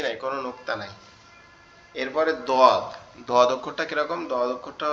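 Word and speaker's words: ض: যে কোনো এক সাইডের উপরের মাড়ির সাথে লাগবে, আমাদের জিহ্বার গোড়া যে কোনো এক সাইডের মাড়ির সঙ্গে লাগবে, লেগে উচ্চারিত হবে দদ, দদ। এই দদের উচ্চারণটা কি সব থেকে কঠিন?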